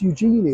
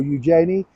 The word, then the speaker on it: Eugenie: But now we've got Princess Eugenie, or Eugenie, whichever way you want to pronounce her name.